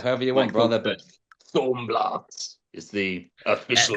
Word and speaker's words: Thaumblast: Thornhill Blast Thornhill Blast Thornhill You can pronounce it however you want brother but Thornhill Blast is the official pronunciation.